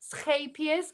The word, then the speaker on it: Scheepjes: So this is, gosh, Scheepjes. I was told you pronounce it.